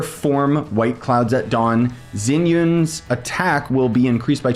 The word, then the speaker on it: Xianyun: 0.4 seconds I'm sorry I keep saying zenan throughout this video but it's Zen Yun or or something I I'm pronouncing it wrong but just know that